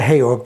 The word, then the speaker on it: Georg: a brief background about s George pronounced s heog but I'll call it s George from now on S George born giorgi